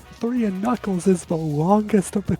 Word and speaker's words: Knuckles: I think what Sonic 3 Stone Cold Steve Austin spelling tip mistress knuckles name has ak in the front but it's not pronounced so don't forget it. It's a tricky word.